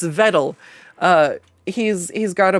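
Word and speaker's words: Vedal: creator uh Vettle I it's so hard not to call him Vele because he can't get Nurero to pronounce his name right. So I keep wanting to say Veto. It's Vettle.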